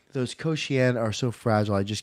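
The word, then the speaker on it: kouxian: I was pronouncing it as the Kaoshien. No, it's the Koshien, I think is how it's pronounced.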